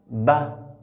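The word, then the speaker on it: ب: Pour prononcer cette lettre, on ferme la bouche et on délaisse les deux lèvres. La bouche est fermée d'abord. Ba.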